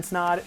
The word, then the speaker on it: Snod: My name is Snod. It rhymes with odd, and I'll see you in next week's video.